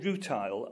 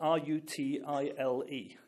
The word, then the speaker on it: rutile: Now, there's a mineral, and you must forgive me, I can't pronounce the letter R very well. It's called rutile, R-U-T-I-L-E.